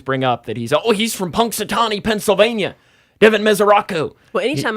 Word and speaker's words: Punxsutawney: Is it Paxitani? How do you say it? Punxsutawney, Phil.